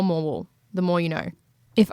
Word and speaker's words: Morwell: I've heard that the locals call it more. So less morwell, more moral.